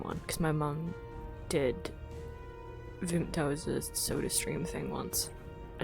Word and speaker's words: Vimto: I don't I don't know how you pronounce that. We say Vimto.